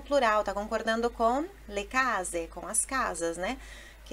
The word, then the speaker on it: case: Aí ela fala: guarda quante case. Guarda quante case. Case, mais uma sílaba no ca, né?